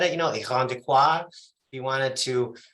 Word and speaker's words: Irondequoit: So this morning, our office spotlight is with Chuck from Irondequoit.